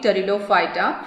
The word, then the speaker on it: Pteridophyta: Here you have to understand, we are writing the spelling P-T-E-R-I-D-O-P-H-Y-T-A, but the pronunciation is pterido. P is silent there.